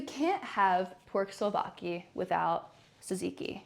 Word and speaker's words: Tzatziki: Zach sauce? No, Tzatziki.